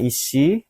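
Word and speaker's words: 石: Ini bacanya ishi, artinya batu.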